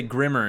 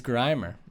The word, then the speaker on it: Grimer: i literally one time heard a kid say grimmer instead of grimer you gotta be it's grimer you gotta be online support kids didn't get